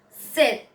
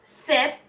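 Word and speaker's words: sept: the pronunciation is different set now here instead of pronouncing the p we pronounce the t so it is not sep but it is hi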